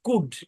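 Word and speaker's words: could: প্রচুর ব্যবহার হয় তারপরে সি ও ইউ এল এখানেও এলটা সাইলেন্ট উচ্চারণ কি কুড কুড মানে কি ক্যান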